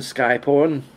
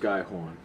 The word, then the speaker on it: Skyhorn: are you Lucian Sky porn are you Lucian Sky porn it's pronounced skyhorn skyhold yes I am here you can hear